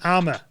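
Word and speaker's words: armour: So would you call it the armor? So 4 armors for this one. Yeah, 4 armors, yeah. Yeah, so you don't pronounce the L.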